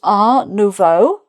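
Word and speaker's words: art nouveau: And then this one, uh, this is R Novo. Um, again, the T isn't pronounced, so it's not art.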